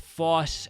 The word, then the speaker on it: foss: The thing to know with foss as well that maybe I should have said earlier is o with no accents over it. You start with your mouth kind of small and you open up, so it's foss.